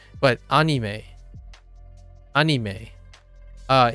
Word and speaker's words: anime: very relevant but uh someone told me that I've been pronouncing anime wrong right but I go back and forth if I'm speaking Japanese I would use anime and if I'm speaking English I would say anime right but anime anime